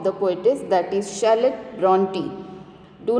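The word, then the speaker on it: Brontë: See here carefully, even though the spelling has R in that R is silent, and here I have written purposely in Marathi the pronunciation of the poetess, that is Charlotte Bronte.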